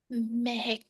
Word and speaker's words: Mahak: Did I pronounce that right, Mahak? No? Yes? Dr. Madvi, what is the correct pronunciation of M-A-H-A-K? Mahak? Mehek.